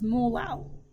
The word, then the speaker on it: molal: The units would be moles per kilograms, or little m, which you pronounce as molal.